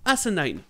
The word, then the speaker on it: asinine: Et commençons par le mot asinine. Pour la prononciation, prenez as comme un cul et nine comme le chiffre 9.